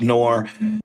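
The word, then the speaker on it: Noerr: Pronounced like the conjunction or the rice company that makes the the rice dishes, but spelled different.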